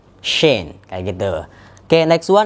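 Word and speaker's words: Shein: Contohnya ada kata-kata S-H-E-I-N. Nah, di situ ada SH. Maka teman-teman ya tinggal di lebih tebal suara S-nya. Jadinya Shane. Shane.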